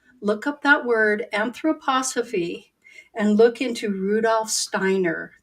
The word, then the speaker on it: anthroposophy: that you look up a word that is pronounced anthroposophy look up that word anthroposophy and look into Rudolph Steiner that would be